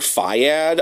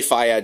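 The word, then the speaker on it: FYAD: and die also um it's abbreviated I I say it as a word fiad I know so I've seen some people spell it out but I I like to say Faya just for simplicity's sake and um and [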